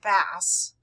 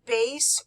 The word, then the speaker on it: bass: we're talking about the bass clef pronounced bass not bass is used for notes in the lower pitch ranges the bass or f clef has